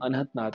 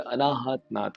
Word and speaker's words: अनहत नाद: सुनाई देती है हमें, जिसे हम अनहत नाद कहते हैं या अनाहत नाद कहते हैं या अनहात नाद, कई तरह से प्रोनाउंस किया जाता है। वेदों में इसे अनहत नाद कहा जाता है, संस्कृत शब्द है ये।